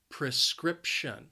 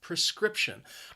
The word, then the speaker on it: prescription: prescription from the doctor the word has three syllables and the stress is on that second syllable prescription prescription i think the word is a little confusing because of that pre it's not a pre sound it's more of a pr prescription need a prescription